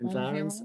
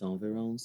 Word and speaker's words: environs: Now that we're in new environs or environs, how do you pronounce that word? Environs. I always think it's environs.